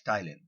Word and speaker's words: ptyalin: is also known as ptyalin. P is silent, it is read as ptyalin.